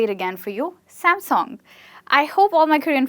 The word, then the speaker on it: Samsung: And they call it as Samsung, like the song you sing. So Samsung. I'd say it again for you, Samsung.